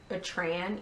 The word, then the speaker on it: Etran: My favorite one on this, I think it's pronounced Etran, E-T-R-A-N.